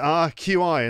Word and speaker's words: qi: Is it QI?